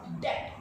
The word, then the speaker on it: debt: Yes, children, this is pronounced as debt, D-E-B-T, and the letter B is silent in this word.